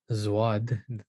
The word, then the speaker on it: ض: And that's why today in Persian and Urdu and Turkish, it's pronounced as a Z sound. This letter, zwad, they say, it doesn't just come out of nowhere.